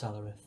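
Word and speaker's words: Salaryth: S A L A R Y T H. Like salary but with at the end.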